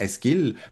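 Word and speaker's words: Eschyle: à la grecque et si on prononçait en grec ancien ça ressemblerait sans doute à Eskil plus qu'à échil mais en français on dit échile.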